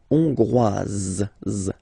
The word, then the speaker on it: Hongroise: Hongrois, Grois, Hongroise. Okay, so here final S not pronounced for the masculine form, and then you pronounce it here for the feminine form.